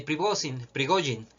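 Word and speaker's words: Пригожин: es un bulo de Yevgeny Prigozhin, que es la manera correcta de pronunciarlo según tengo entendido. Prigozhin, el jefe de Wagner,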